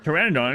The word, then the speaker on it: Pteranodon: can't you hear a Pteranodon and go to the bathroom because a p is silent yeah I've heard that